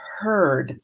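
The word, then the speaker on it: heard: Beware of herd, a dreadful word, or beware of herd, a dreadful word that looks like beard and sounds like bird.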